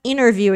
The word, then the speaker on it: interview: nervous during the interview de falar interview muitas vezes o nativo ele tira o t e fica interview igual International internet tá he got nervous during